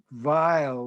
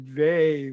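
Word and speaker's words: Weil: in which that name should be should be pronounced and it's not vile like the german because but the family pronounced it vey like the german woe and let me just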